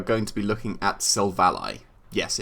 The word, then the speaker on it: Silvally: to be looking at silvally yes it's pronounced silva ally because it's your ally i will always remember